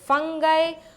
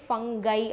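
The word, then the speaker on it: fungi: ஓகேவா, so next it includes bacteria, cyanobacteria, நம்மளோட ஃபங்கை, Moses, and இது நிறைய பேர் ஃபங்கி அப்படின்னு ப்ரொனவுன்ஸ் பண்ணுவாங்க, சில பேர் ஃபங்கை அப்படின்னு ப்ரொனவுன்ஸ் பண்ணுவாங்க. I prefer ஃபங்கை.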